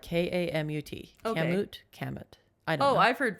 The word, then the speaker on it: Kamut: But camlet flour, it's spelled like Kamut. Okay. Kamut.